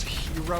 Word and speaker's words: gyro: we're going to win it's pronounced hero over here are you telling me a gyro eater to FL shut up my Greek friend would always say that you're saying it wrong I'm like bro I